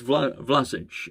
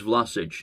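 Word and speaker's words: Vlašić: So it's Vlasic, the name's Vlasic, Nikola Vlasic, which is, we just know what happens on this channel.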